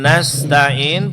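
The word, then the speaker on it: نستعين: Huruf nun nastain fathahnya disempurnakan na. Bukan na bukan nastain tapi nastain.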